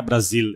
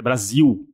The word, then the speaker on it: Brasil: Eu falei não, S não é Brasil, é Brasil. Tem o L no final da palavra se pronuncia como eh U, né?